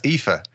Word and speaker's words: Aoife: to pronounce yeah yeah a-o-i-f-e so that's IFA yeah are you even serious yeah that's IFA that's a girl's name